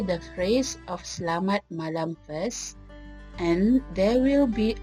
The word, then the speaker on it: Selamat Malam: Pronounce lam like I pronounced it. It is because English words that have lam in it tend to be pronounced differently than our pronunciation of Malay's lam.